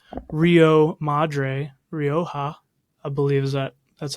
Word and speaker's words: Rioja: Called Rio Madre, Rioja, I believe that's how you say it. Yeah. Rioja.